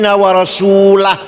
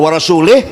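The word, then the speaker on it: وَرَسُولُهُ: Yang benar, annallaha bari'um minal musyrikin wa rasulah. Sesungguhnya Allah tidak melindungi orang musyrik dan Rasulullah pun tidak melindungi orang musyrik. Bacanya wa rasulah. Kalau wa rasulih, Allah tidak melindungi orang musyrik dan tidak melindungi Rasulullah.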